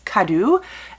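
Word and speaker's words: Kadou: of our main character but it is k-a-d-o-u so i'm going to go with kadu and he is the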